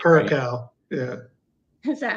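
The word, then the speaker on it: Curaçao: Curacao. Yeah. Is that how you say it? I don't know. Is it correct? How do you say it, Jim? I say Curacao.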